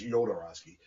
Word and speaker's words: Jodorowsky: I think it's Jodorowsky, but it's spelled with a J.